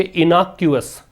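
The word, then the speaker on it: innocuous: इसका प्रोनाउंसिएशन भी मैंने सिखाया था। आप इसको प्रोनाउंशिएट करेंगे इनॉक्यूअस। इनॉक्यूअस का मतलब बताया था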